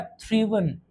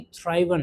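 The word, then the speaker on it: thriven: First form को लिखा और एन लगा दिया, हो गया थ्रीवन, ना कि थ्राइवन। क्या हो गया? थ्रीवन हो गया।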